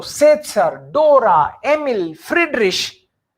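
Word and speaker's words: Friedrich: Here it इज शे because before ch a o u is not there. Generally before ch, if a o or u is there, in that case ch becomes kh, but here it is not kh, here it is sh.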